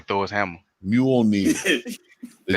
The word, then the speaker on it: Mjolnir: Mjolnir. The It's J like is Ray silent. Shaboom. It's like Jose, but the J is silent.